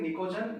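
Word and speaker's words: pnictogen: नाइट्रोजन family को N फॉर नाइट्रोजन, N फॉर निको, P silent है, निकोजन या निक्टोजन भी बोलते हैं।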